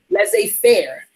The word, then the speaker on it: laissez-faire: things take their own course without interference right let's say fair okay so in the present context let's say